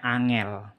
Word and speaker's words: Angel: ngebagiin i l mati pakai ini bacanya bukan Angle ini bacanya Angel ya jadi kayak siapa almarhum Cak basman tuh Angela Angela seperti ini jadi kalau menulis nama